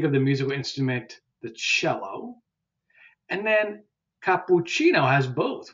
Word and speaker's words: cello: church so think of the musical instrument the cello and then capucino has both we have the